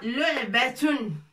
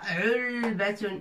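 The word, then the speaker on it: لُعْبَة: Lu'batun. Lu'batun. Lu'batun. C'est pas ulbatun. C'est pas l'ain au début du mot. L'ain, hona, fi wasat, au milieu du mot.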